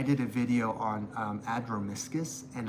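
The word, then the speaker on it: Adromischus: on um Adroiscus and I was saying andromicious and I had somebody like call me out in the comments and I was like I didn't realize this that there was no N in the beginning.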